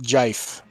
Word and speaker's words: GIF: If you don't pronounce it jife, you're Yeah, no. pronouncing it wrong.